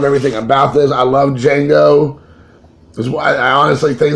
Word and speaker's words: Django: relate to when Tarantino Django Unchained the D is silent another great director that I loved his films he's a fantastic director I just love everything about this I love Django that's why I honestly